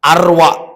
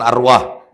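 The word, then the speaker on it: أروى: Nomor 4, arwa. Bukan arwah. Arwa ya. Nomor lima.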